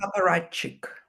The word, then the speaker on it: apparatchik: life of um what is the can you pronounce the word for me? Apparatchik.